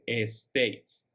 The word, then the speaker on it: States: Recuerden que la S es más como un zumbido, no decimos ES, no pronunciamos como ES, States. Es más United States.